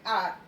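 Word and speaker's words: hour: अब यहाँ पे आप देख सकते हैं एन आर, इसे हम आर बोलते हैं, एच ओ यू आर है तो उसको हार नहीं बोलते, इसलिए एच साउंड, एच जो है वो साइलेंट है तो आर आती है साउंड, इसलिए हम एन लगाते हैं।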